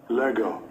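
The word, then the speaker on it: λέγω: So the third word that breaks down the English word thinking is this Greek word, and let's get the correct pronunciation. Strong's G 3004. Lego.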